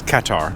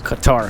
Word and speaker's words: Qatar: in America we say cutter a lot or Cutter but it's um two separate words unless it's Qatar Qatar each syllable has the same emphasis Qatar Qatar tell me one